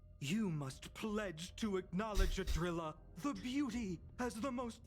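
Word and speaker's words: Idrila: It's Adrilla, not Adrilla.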